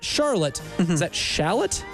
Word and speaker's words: Shallotte: uh West Brunswick from not Charlotte is that Shallotte s h a l l o t t